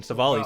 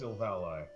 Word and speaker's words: Silvally: As Poison Savali says. It's Silvally. It's Leviosa, not Leviosa.